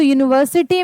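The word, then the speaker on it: university: तो यूनिवर्सिटी professor अगर हम पढ़ते हैं तो यूनिवर्सिटी में वाई यू से उच्चारण यहां पे जो हमारा क्या है? यू जो है उसका वाई यू से उच्चारण होता है। य हो जाता है।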